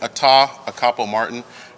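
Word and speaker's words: Atah Akpo-Martin: crimes good morning uh my name is Captain Atta acapo Martin I'll spell it a-t-a-h a capo Martin AK akpo hyphen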